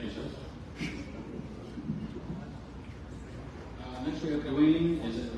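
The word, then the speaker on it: Duane: Next we have Dwayne, is it? State your name and spell it for the court reporter. Hi, my name is Dwayne.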